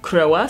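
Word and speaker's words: Croix: you who told me the correct pronunciation of crows name it is croa so again thank you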